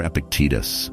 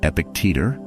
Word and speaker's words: Epictetus: The Stoic philosopher Epictetus, often mispronounced as Epictetor, once said, "It's not things that disturb us, but our judgment about things."